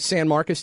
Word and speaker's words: San Marcos: Let's go to Michael in how do you pronounce that? Is that San Marcos, Texas?